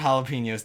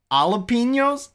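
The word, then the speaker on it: jalapeño: the stuff i mean as long as you don't pronounce the j and jalapenos usually i pronounce it jalapenos don't worry however i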